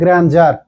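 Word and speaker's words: grandeur: Deer না, গ্র্যান্ড finale, কিন্তু এটা হবে গ্র্যান্ডজার, এর উচ্চারণ হবে গ্র্যান্ডজার, ডি এর উচ্চারণ জ এর মতো, গ্র্যান্ডজার।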